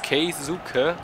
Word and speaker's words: Keisuke: Ich finde das so eine große Umstellung, dass Keisuke plötzlich Keisuke ausgesprochen wird.